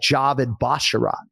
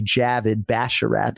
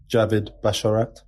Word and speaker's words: Javid Basharat: yet it's pretty simple there are two actual words in his name Avid and Bash and he pronounces both of those words exactly the way you would pronounce them and so I would